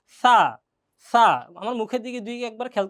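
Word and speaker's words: ث: সা, জিহ্বা বের হবে, সা, সা, আমার মুখের দিকে একবার খেয়াল করলেই হয়ে যাবে ইনশাআল্লাহ।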